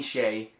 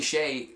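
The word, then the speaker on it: Hsieh: one is called delivering happiness um by Tony Shay that's how you pronounce his name tonyy Shay he is the CEO and the the creator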